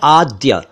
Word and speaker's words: आद्य: विद्योत्तमा एक शब्द है आद्य आद्य इसका अर्थ है आदि का यानी शुरू का शुरुआती तो इसे आध या आध ना बोले यह आद्य है और इसी से बना